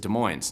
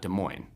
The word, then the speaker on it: Des Moines: washington state if you're local you tend to pronounce it des moines not des moines but uh that being said they have a